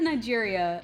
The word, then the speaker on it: Niger: I said Nigeria, but it's actually Niger due to most people not knowing how to say it.